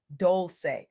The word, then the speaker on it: Dolce: Welcome to the Softgirl Era podcast hosted by Leanne Doli, pronounced doulce like sweet softness whispered in French.